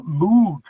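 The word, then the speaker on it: Mughe: However, we do have a new candidate brought in, and this is Francois Moug. It's spelled M-U-G-H-E. Francois Moug.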